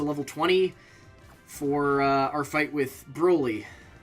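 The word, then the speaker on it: Brawly: 24 our fight with brouilly whose name I'm pretty sure is actually supposed to pronounce Brawley but I can't not say brutally uh yeah I'd like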